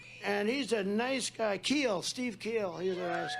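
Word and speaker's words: Kuehl: he loves nebraska steve keel it's pronounced keel but it's spelled k-u-e-h-l how the hell did you get keel out of that one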